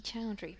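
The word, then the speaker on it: Chaudhuri: Nikki Chowry, but Nikki Sw and C H A U D H U R I.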